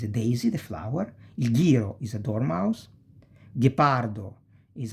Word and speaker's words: ghiro: Ge and gi. Ge e gi. You pronounce like guest or geese. If that can help you, use whatever helps you to remember, okay? Margherita, ghiro, ghepardo e ghirlanda.